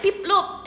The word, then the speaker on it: Piplup: ah to much namanya pip Loop is how you pronounce it pip Loop piplop namanya